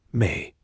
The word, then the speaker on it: me: One of the most fascinating elements of their ongoing power struggle involves a mysterious concept known as the me pronounced may.